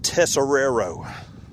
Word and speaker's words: Tessero: the last name field tessero there it is all right yeah buddy I appreciate that I I actually cheated I put accents over the first s and over the second tessero back when I